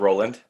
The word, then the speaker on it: Rowland: Like we said, my name is Rowland, spelled as it's pronounced.